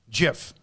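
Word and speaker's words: GIF: guy that made g-i-f says it's pronounced with a j jiff just the guy we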